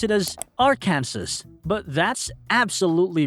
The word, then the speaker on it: Arkansas: This is something a lot of foreigners get wrong, because Arkansas seems like a phonetic twin of Kansas, but most tourists pronounce it as Arkansas.